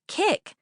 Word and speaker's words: Kik: Mom, it's kick like kick.